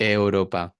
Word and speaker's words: Europa: no existen en inglés como por ejemplo eu no Euro Europa eh cero cero angloparlantes me han pronunciado bien eso a la primera Alo que requiere mucho esfuerzo también mantenemos la articulación claro lo pronunciaría como Europa no O Europa Europa exactamente Sí y con la